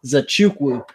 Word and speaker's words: Nzechukwu: We were just talking about how to pronounce that gentleman's last name. It's actually not that difficult. Nzechukwu.